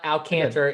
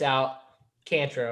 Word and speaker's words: Alcantara: You're supposed to say JSU, so it's not Alcantara, it's Alcantara, or whatever you say his name.